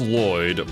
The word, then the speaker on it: Lloyd: So, it is pronounced Lloyd, but technically speaking, the name itself, the origins of the name would be pronounced slightly differently.